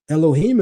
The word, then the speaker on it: Elohim: I can look at the letters for Elohim, and depending on vocalization, I don't have to say Elohim. Elohim is the Masoretic pronunciation.